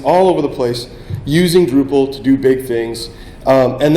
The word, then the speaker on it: Drupal: The way you say drop is Drupal, and then they started spelling it Drupal. So it's a bad pronunciation of a misspelling of a typo, is the way the name got its start.